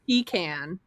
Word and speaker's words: pecan: Do you say pecan or pecan?